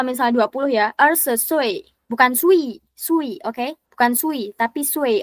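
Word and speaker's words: 岁: Nah, kalau misalnya kata sui, itu kan UI ya. Nih, ujungnya kan UI. Dia dibacanya ue. Jadi kayak sui, bukan sui. Kalau misalnya gini, Ibu. Itu aja sih. Ibu. Wo Cinian Arsha Sui. Ya, sui gitu. Kayak ada ue-nya.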